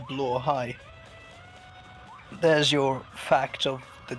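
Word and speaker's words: Blåhaj: But yeah, um so I've come to realize that blai literally means blue shark and it's pronounced blai.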